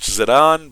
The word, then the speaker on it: Zidane: I know his name is supposed to be pronounced Zidane, but I grew up calling him Zidane, so whatever.